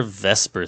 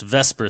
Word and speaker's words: VSEPR: geometry of a molecule conveniently this is where Vesper theory comes in so it looks more like the zipper but it is pronounced Vesper Theory Vesper Theory is a valence it is